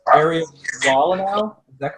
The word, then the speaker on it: Wolanow: Am I pronouncing your name properly, Areiel? It's Areiel Wolanow. Is that correct? Wolanow. Wolanow.